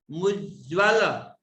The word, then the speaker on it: मुज्ज्वल: मुज्ज्वल आधा ज फिर दूसरी बार आधा ज, मुज पहले पढ़ लिया आधे ज को, पूर्व वाले आधे ज को, बाद में ज्वल, मुज्ज्वल।